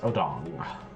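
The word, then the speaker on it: Odongh: the wrong way yes odong that's how it's pronounced it's not how it's spelled they are commonly referred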